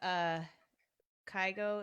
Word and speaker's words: Kygo: Oh, the one with Kygo.